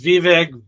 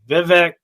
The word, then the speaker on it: Vivek: his name everybody says viveg Vivek a lot of different names but he finally came out and really tried to help us so what he said is it's V and it rhymes with cake well I think it